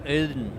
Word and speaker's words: Audn: It's Audn. Like the god Odin? No, it's closer to the German word Aude, I think, or Audn.